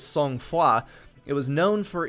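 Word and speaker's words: Sang-Froid: Their first one was a hybrid defense game named, if you're American and bad at pronouncing things, Sang Freud, and if you actually pronounce things correctly, I believe it's Song Foi.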